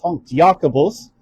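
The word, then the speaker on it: Jakobus: James or S Yakabos as it was pronounced back then.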